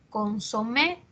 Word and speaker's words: consomé: terminan en letra s por ejemplo consomé es aguda las personas dicen un consomé eh al margen de cóm se escriba la pronunciación es aguda lo mismo pasa con